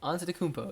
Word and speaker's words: Antetokounmpo: Antetokounmpo. Antetokounmpo.